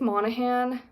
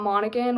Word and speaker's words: Monahan: Monahan I think it's Monahan not monan which is what I said in my book haul video I said monigan but I'm pretty sure it's Annabelle Monahan I apologize if I